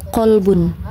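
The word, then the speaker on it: قلب: ee contohnya ee pada huruf kalbun dengan qolbun. Jadi pelafalannya jelas antara ka dan qof.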